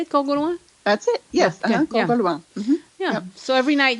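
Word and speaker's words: Corgoloin: Corgauloin.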